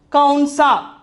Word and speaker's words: कौन सा: Then for the seventh one, kaunsa. Kaunsa.